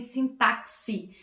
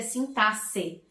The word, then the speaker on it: sintaxe: Algumas pessoas dizem sintaxe, né? Porque se escreve com X, mas não, a pronúncia correta é sintaxe, né?